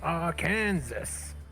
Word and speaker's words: Arkansas: pronounced Arkansas.